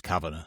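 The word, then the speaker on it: Cavanagh: McGra and Royy's surname's Cavana. So we're we're probably doing okay. What is harder Carly for those um Oh, you're pronouncing like that, are you? Well, it's Caven. Cavan.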